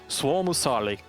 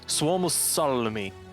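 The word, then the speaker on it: Suomussalmi: Suomusalmi. Severe asking me to pronounce that word, but Suomusali. Oh, sorry, Suomusalmi.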